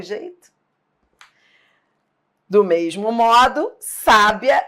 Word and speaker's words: sábia: Do mesmo modo, sábia e sabia.